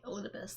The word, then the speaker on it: Elidibus: Okay, Elidibus, that's how you pronounce that.